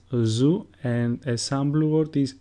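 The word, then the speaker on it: Ζήτα: Zeta, which is pronounced zoo, and a sample word is zebra, which means zebra.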